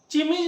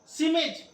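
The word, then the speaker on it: chemise: स के लिए यहां पर देखिए मैंने लिखा सिमिज, इसको चिमिज नहीं पढ़ेंगे, सिमिज।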